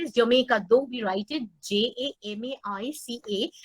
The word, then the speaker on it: Jamaica: And Jamaica, এটা একজন জানতে চাইলে, Jamaica হলো উচ্চারণ is Jamaica, though we write it Jamaica, মানে জামাইকা নয়,